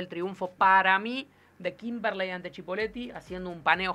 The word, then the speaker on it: Kimberley: Es Kimberley. Con el acento en la E.